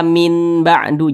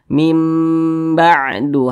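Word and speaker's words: مِنْ بَعْدِ: Nah, jadi jangan dibaca min ba'du, jangan, tapi dibaca mim ba'du hatta, seperti itu.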